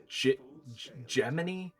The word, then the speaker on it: Gemini: It's spelled Gemini, pronounced Gemini, but it's based off Jiminy.